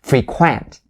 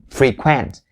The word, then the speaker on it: frequent: pronounce this word as frequent frequent all right so the first syllable it has the e sound the long e sound but the second one